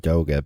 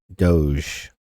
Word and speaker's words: Doge: Now, first of all, I'm pronouncing it Doga because everybody is incorrect when they say Doge. First of all, it's not a French pronunciation. The original meme of the Shiba Inu being a Japanese dog implies that correct pronunciation is Doga because it's two Japanese phonemes, Do and Ga, is naturally, when you